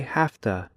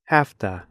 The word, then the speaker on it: have to: by using half - in slow speech Americans say have to but in fast speech Americans say hafta it looks like this have to it sounds like this afta watch the video listen